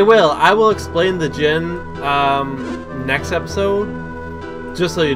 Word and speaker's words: djinn: The djinn. When I was a kid and I was first playing this game, I didn't know that the D was silent, so I pronounced it djinn.